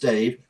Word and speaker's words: Dav: man Dave py because in actual fact he pronounced Dave and written DAV right H just to catch